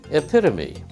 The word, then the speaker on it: epitome: Epitome has 4 syllables. Epitome. Epitome? She got it right. Epitome.